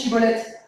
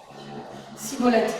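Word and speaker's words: Schibboleth: Prononce chivolette. Ils arrivent pas à le dire cibolette mince et là c'est fini.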